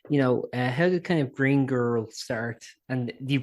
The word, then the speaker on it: Green Gurl: I guess the first thing I was going to ask quite simply is, how did kind of Green Girl start? And do you pronounce it like that?